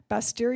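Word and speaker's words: Bastyr: degree the nutrition from Buster University in Seattle I want you guys to know that I really worked on pronouncing that University's name accurately because it's spelled bas tyr and so I just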